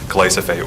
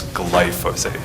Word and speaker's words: glyphosate: on the superintendent there's there's a very common tendency to mix the s and the y so that superintendent said glycophage when it's glyphosate there you go you